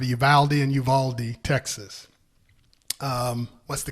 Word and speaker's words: Uvalde: Mass shooting in Uvalde. I've heard it's pronounced Uvalde in Uvalde, Texas.